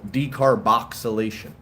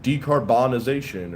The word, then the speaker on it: decarboxylation: Big word, people misspell it all the time. They call it decarbonization, or you have to decarb it, or no, decarb it is actually the correct way to say it, but decarbonize it.